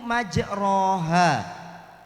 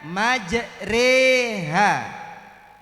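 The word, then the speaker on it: مجراها: Jadi Bapak Ibu di tulisannya itu majeroha. Tapi cara bacanya majeriha.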